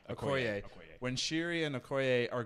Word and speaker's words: Okoye: The general Okoye. Okoye.